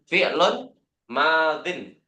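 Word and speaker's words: فعل ماض: ya berarti alfi'lul madhi kalau ada al-nya berarti di tanpa tanwin bu ya kalau tanpa al fi'lun Madin.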